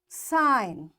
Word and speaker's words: sign: Now G is there and N is after G, so this G is silent and we will say it design. Foreign, sign, align, resign, assign, rain, clone, campaign.